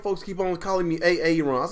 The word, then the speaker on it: Aaron: black and illiterate, and the kid's name was Aaron, and he kept saying AA Ron because Aaron has 2 A's in it.